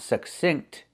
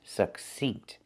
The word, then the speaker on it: succinct: Listen to the word, succinct. It's not succinct, it's succinct. It's the E sound.